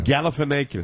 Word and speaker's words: Galifianakis: I'm just surprised you didn't know how to pronounce the name. Really, after all these years, that surprises you. Galifianakis.